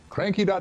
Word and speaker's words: Cranquis: find some hilarity themselves cranky tumblr calm come along and have some fun yep and cranky spelled CRA n Q u is pronounced like the French Marquis of course yes and